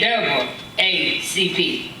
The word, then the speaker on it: NAACP: advancement of color people the NAACP pronounced in double A CP Rosie worked as a